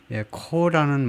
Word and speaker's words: corps: 말이 돼요 그니까 이거 코스라고 발음하지 마시고요 코라고 발음 하시고 이거는 코스 코스에 해당되는